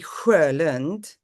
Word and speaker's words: Sjölund: name's Swedish, which would be Sjölund, but I'm not going to Ah, ask anybody to do that.